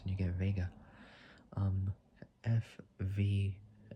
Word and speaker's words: Vega: at the end and Vega like saying like saying Vegas but take out the letter S and you get vega um FV FV2B uh 58 Honi was a Chinese car company CA72.